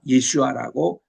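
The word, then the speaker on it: ישוע: 이러니까 예슈아라고 이제 원문의 발음은 그렇습니다. 예수님을 예슈아라 그러는데 내가 핍박하는데 예수라.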